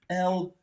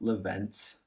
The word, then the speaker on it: Lorentz: L-O-R-E-N-T-Z. Lorentz, not Leventz. Lorentz.